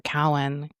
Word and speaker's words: Cowan: In January of 1955, Lou Cohen took his Cohen or Cowen. How does it spell? Well, it's not spelled like Cohen. It's spelled C O Wow.